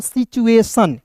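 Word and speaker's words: situation: सिचुएशन।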